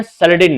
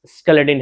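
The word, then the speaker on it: Schleiden: इसका नाम जो है मेथियास स्केलेडिन है। उस सैलेडिन पढ़ते, मैं सैलेडिन पढ़ता हूं, अपनी मर्जी, आप इसको स्केलेडिन भी पढ़ सकते हैं, हालांकि यह साइलेंट होता है ये, तो कैलेडिन सैलेडिन ऐसा पढ़ा जाता है।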